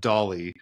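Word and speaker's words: DALL-E: interesting too because I've heard uh people refer to doll um or or D A L L E3 they call it Dolly uh so I think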